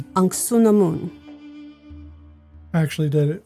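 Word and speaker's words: Anck-su-namun: Patricia Velasquez played an uh it's anamoon. Ansunamoon. actually did it phonetically.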